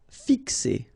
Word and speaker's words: fixer: Fixer. Okay, remember X here, x, fixer.